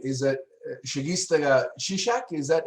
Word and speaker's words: Segesta Sisak: You you spent time and help me pronounce the name. Is it Segesta Sisak? Is that how you say the club? Segesta Sisak.